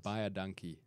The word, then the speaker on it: Baie dankie: Baie dankie. Buy a donkey.